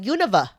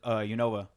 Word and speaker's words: Unova: The Unova. I call it Univa. Oh, interesting. I've never had it pronounced that I always knew as Yova.